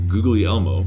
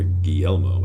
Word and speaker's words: Guglielmo: But to help you remember Guglielmo, or Guillermo as it's properly pronounced, Guillermo Marconi helped invent the radio, kind of like the wireless telephone Yeah.